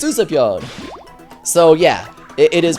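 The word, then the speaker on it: Usapyon: goes oh this is us or he says USA P and's like no no no it's uspon so yeah it it is pronounced uspon pman pone says 101 leafy do the 3,000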